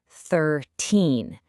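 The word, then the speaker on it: thirteen: So think of teen endings like loud teenagers. They drag out their vowels and the stress falls heavily on the last syllable. 13. In contrast, T sounds are like busy adult tens. They are short, precise, to the point, and the stress is always on the first syllable.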